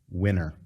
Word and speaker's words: DeSantis: pronounce my last name winner he sounded just like a little kindergartner didn't he the way to pronounce his last name is winner now this is coming